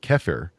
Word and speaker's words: kefir: There's another fermented dairy product that's pretty popular called kefir. I think I'm pronouncing that correctly.